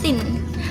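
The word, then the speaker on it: तीन: Di bahasa Hindi itu kita kenalnya sebagai Tin, pakai N. Tin. Jadi T E E N, kayak teenagers gitu loh. Tulisannya T E N, Tin gitu. Tapi bacanya Tin.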